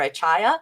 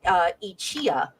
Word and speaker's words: Achaya: because DC Fontana actually didn't include the phonetic pronunciation for Achaya, and it was actually supposed to be Ichia.